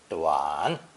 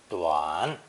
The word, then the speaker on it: 短: This new combination is pronounced third tone, duan, duan.